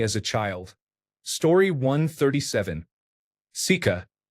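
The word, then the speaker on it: сука: Sika pronounced like suka is a Russian curse word.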